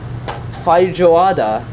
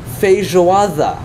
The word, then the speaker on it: feijoada: yep good job feijoada so instead of being phi joada it's feijoada so the e i